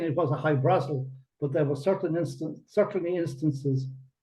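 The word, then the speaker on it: High-Brasil: How do you say it? How do you pronounce it properly? I know I'm not pronouncing it properly. High Brazil, they tend to call High it. Brazil. Yeah, it's Irish. You follow I-E, Brazil. But Brazil. High Brazil is fine.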